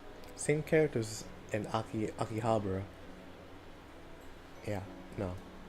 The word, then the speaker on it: Akihabara: Same characters in Akihabara. Yeah, no. Akihabara.